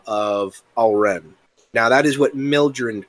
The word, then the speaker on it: Alren: Now, Alren, or as people in Judar in his mother tongue would more likely pronounce it Alaren.